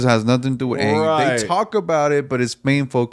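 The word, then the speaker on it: Aang: Or the legend of I was about to say, is it pronounced? No, it's Ang.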